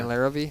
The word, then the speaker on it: Larrivee: of the Packer announcers Wayne layer yeah yeah Larrivee yeah you would like a little more emphasis